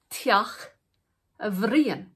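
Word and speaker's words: Teach Bhriain: and pronunciation of brienne so brian's house becomes tiach avrien so a h has been added in and also an additional i the additional i does not change the pronunciation but the h changes the pronunciation from brienne to averian in the play there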